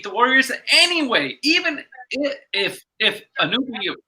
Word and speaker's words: Anunoby: Gideon says that the Raptors would have beat the Warriors anyway, even if Anunoby, how is his name, was healthy.